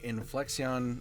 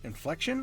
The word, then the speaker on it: Inflexion: the meantime Nightingale is made by inflexion inflection or inflexion games um spelled with an X in there so I'm not 100%